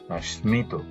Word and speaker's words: স্মিত: স্মিত, এখানে দন্ত স্বরের সাথে মটা ছিল, সেই মটা উচ্চারিত হয়েছে স্মিত ইত্যাদি।